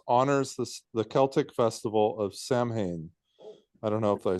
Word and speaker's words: Samhain: It's pronounced Samhain. Say it again. Samhain.